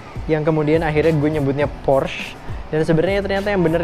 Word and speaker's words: Porsche: Next, kita punya Porsche. Oke, jadi pabrikan asal Jerman ini disebutnya yang benar itu adalah Porsche. Ada kayak sedikit huruf A-nya gitu di akhir, guys.